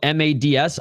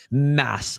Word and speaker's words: Mads: in North America and your name is spelled mads, I don't give a how it's pronounced wherever the hell you're from in your motherland. It's Mads here. It's Mads here. It ain't mass. I ain't calling them mass, bro.